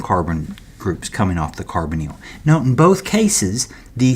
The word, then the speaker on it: carbonyl: Carbonyl. Okay, carbonyl. It's a long E in that YL.